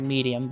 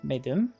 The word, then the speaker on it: Medum: I know it looks like medium, but it is definitely Medum, I want to say. I do mispronounce a lot of things, but I'm pretty sure on that one.